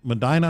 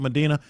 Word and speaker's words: Medina: by Ohio State Patrol in Madina. I think that's how they pronounce it in Ohio. It might be we call it Medina but a console figure real quick. Yeah. Medina for us.